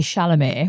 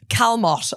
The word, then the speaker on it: Chalamet: this time last year, I did not know how to say Shalomé. Shalom. Do you know what I mean? All I saw was Timothy Calmott or something like that.